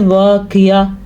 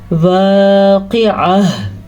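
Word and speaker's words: واقعة: ساکن ہو جاتی ہے۔ اب اکثر لوگ پڑھتے ہیں واقعہ، غلط ہے اگر ایسے پڑھتے ہیں۔ ہاں کدھر گیا بھائی؟ تو ہم نے پڑھنا ہے واقعہ، ہاں کی آواز ضرور آنی چاہیے کیونکہ یہاں پہ ہاں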